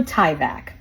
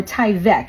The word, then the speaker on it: Tyvek: No need for Tyvek, or Tyvek, excuse me, is the proper way to say it.